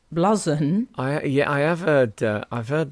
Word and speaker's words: blouson: Well, Gareth says my granddad would have called it a blouson, pronounced bluzon.